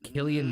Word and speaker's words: Cillian: Killian Murphy. Who? Yeah, he's so skinny. Did you Cillian Murphy. Did you watch Oppenheimer? Yes. He was like 3 Murphy? pounds. Killian Murphy.